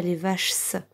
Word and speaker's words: vaches: Et je terminerai par un S qu'on n'entend pas. On ne dit pas les vaches, on dit les vaches. Mais ça s'écrit avec un S.